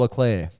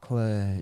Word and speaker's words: Leclerc: Charles Leclerc. So the second C, the first C is pronounced heavily, K, Yep. and the second C is just off. Leclerc, yeah.